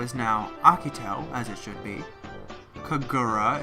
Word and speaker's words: Akito: Akito is now Akito, as it should be.